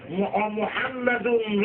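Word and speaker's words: محمد: আল্লাহ বলেন আমার নবীর মিমের উপরে মিম উঠাইয়া ওয়াজিব গুন্না করে দিলাম, জাকা দিয়া মোহাম্মত করে সুমা দিতে হইব মুহাম্মদ। মোহাম্মদ করে জাকাটা ধরে উচ্চারণ করে মোহাম্মদ এভাবে করে হইত না।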